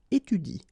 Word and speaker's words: étudie: So in that case, if you want to pronounce it correctly, you should pronounce it like il étudie. Okay, so the last thing that you will pronounce will be the vowel I here.